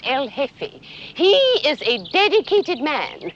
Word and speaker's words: El Jefe: G E F E, the J is silent, El Jefe.